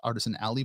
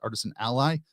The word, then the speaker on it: Artisan Ally: Aly or Artisan Ally I never know how to pronounce that really but um I believe a John who is the developer behind that lead of Lux to Builder says Artisan Aly but I read it as Artisan Ally regardless I'm an Ally